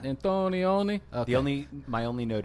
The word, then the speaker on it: Antonioni: it's the Italian director Michelangelo antonioni I think you got it got it antonioni the only my only